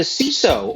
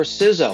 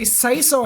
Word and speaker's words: CISO: Miller is now the ciso or sizo or however you want to mispronounce it at Epic Global how are you I'm doing well and as long as you don't say Sayo I think we're okay I've heard that one